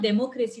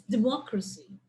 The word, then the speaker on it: democracy: photography so it's not democracy that's why democracy may up you're not putting the stress in the right syllable it's democracy okay that's the right